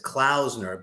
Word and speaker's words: Klausner: I pronounce it right well the New York way I pronounce it as clausner but it probably really is pronounced clausner is probably the real way of it but growing up in